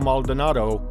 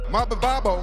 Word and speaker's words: Maldonado: And when he returned to the UFC and took on Fabio Maldonado, his total inability to pronounce the Brazilian's name was just too hilarious to leave out of this video.